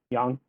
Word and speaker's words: Yang: Yang? Yeah. Yang is the anti-corruption task force leader. That's how we. It's how you pronounce it? Yeah, the yes. It's further back in the throat for you guys.